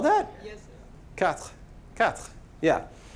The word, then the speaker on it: quatre: And you just kind of do the TR at the end of it. You don't actually say this little vowel. Unless you're an American learning, then you do it all the time.